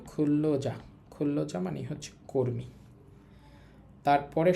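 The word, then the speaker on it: 근로자: এ নিউন এবং রিউল মিলে লয়ল হবে। উচ্চারণ হবে খুল্লজা।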